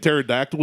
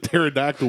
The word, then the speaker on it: pterodactyl: I said pterodactyl where the T is definitely not silent. No, the P is silent.